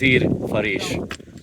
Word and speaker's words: Ezir Fariz: wanted to die on The name of this village is Ezir Fariz it rhymes with "Pariz" which is the Uzbek name for Paris the joke is that